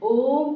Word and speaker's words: ओम: ऐसा लिखा होगा ओम तो ओम का उच्चारण जो है अधिक समय लगता है ओम के उच्चारण में जब हम ओम का उच्चारण करते हैं आप लोग करके देखिए ओम तो इसमें तीन मात्रा का समय लगता है इसलिए इसे कहा गया है प्लुत स्वर ज्यादातर इसका प्रयोग उतना